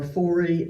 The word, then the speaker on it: Fore: Now, I am pronouncing it Fore, F-O-R-E. When we had some visitors at Keith Church, we asked them how they pronounced it, Fore or Forey, and they said both. So you're all right if you pronounce it either way, according to the Keith